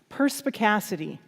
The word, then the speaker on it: perspicacity: And I came across this word, and it was new to me at the time: perspicacity.